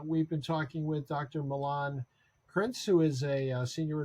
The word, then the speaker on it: Milan: those who are listening It's Milan like the city uh krentz is spelled